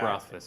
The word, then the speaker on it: Rothfuss: So Rothfuss is a great Rothfuss, that's how you pronounce it? Patrick Rothfuss.